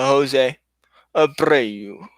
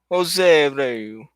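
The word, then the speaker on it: José Abreu: See, you have to enunciate. You don't, but I thought it'd be fun to do so. I love how it rolls off the tongue. You gotta roll your R's.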